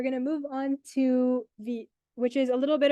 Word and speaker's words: Vite: And at first, I thought it was pronounced Vite, but it's not. It's pronounced Vite, which is French for fast, that helped me remember how to pronounce it.